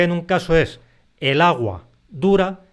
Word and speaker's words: aguadura: sí que decimos el agua dura pero a continuación agua dura agua dura eso se escribe en una sola palabra y la sílaba tónica es du es agua dura Entonces como la a